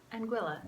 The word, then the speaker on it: Anguilla: Hello, from the island of Anguilla. That rhymes with Manilla, vanilla, and kind of spirulina.